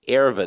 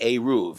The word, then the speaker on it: eruv: However, it's not pronounced erva. That means something else. It doesn't help you carry on the Sabbath. You have to say eruv.